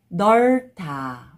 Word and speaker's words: 넓다: Only pronounce first consonant. 넓다.